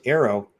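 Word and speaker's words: AARO: anomaly resolution office A a o now first Arrow it's good all right let's face it you know it's the only way to pronounce it it's not a ER got the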